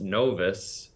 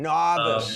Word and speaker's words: Novus: the Latin route and it was no o us pronounced novice we read it wrong we said novice like a good Bostonian noice yeah yeah so up